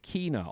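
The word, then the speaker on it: Kena: game but a PlayStation get Kina or Kenna depending how you pronounce it and the bridge of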